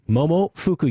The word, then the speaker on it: Momofuku: It was really popular among the trendy East Village food scene, and the best-selling Momofuku cookbook, Momofuku, yes, I can say it right, cookbook, followed quickly.